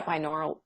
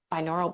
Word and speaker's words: binaural: and and then yeah binaural binaural beats I think is how it's pronounced um right and and